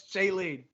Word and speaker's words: Shailene: I forgot about what, but it's Shailene.